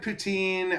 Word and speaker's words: poutine: know, I mean, I I tried I tried Poutine. I'm still The jury's still out on that one. That's a I'm I'm not sure if I'm even pronouncing that correctly, but Poutine.